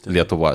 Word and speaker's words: Lietuva: In Lithuanian language, you pronounce it completely different. It's Lietuva.